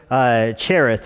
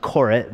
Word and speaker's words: Cherith: yourself at the brook Cherith, is how you would say it in modern Hebrew. If you're reading Hebrew, it would be pronounced Korit, but if you were being Israel today, you would pronounce it Cherith.